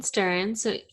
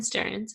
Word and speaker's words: Stearns: So episode 5 was with Ian Stearns, or Ian Stearns, actually. I mispronounce that all the time. Ian Stearns.